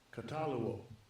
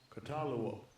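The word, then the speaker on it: καταλύω: Se pronuncia así. Strong's G 2647, Cataluo. Cataluo.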